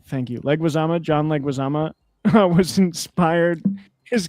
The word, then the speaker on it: Leguizamo: How do you pronounce his name? Leguizamo. Thank you. Leguizamo.